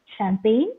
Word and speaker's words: champagne: lamb clim T tum similarly you have silent g words as well children uh that is sign champagne no high light and then uh you have some of the words in your textbook please try to uh say them it is designed where g is silent then malign and then